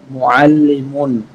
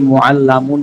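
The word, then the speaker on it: mu'allim: মুআল্লিমুন, একজন শিক্ষক। অনেকে মুআল্লামুন পড়ে, আমি বারবার বলছি তাসদীদের নিচে জবর থাকলে সেটা জের হয়, আর তাসদীদের উপরে জবর থাকলে সেটা জবর হয়। মুআল্লামুন না, মুআল্লিমুন, একজন শিক্ষক।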